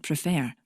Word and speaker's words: prefer: make a mess okay in the word prefer the second syllable is stressed you can check where the stress is by saying the word out loud prefer and when the fare is stressed you add an extra r as well as the suffix your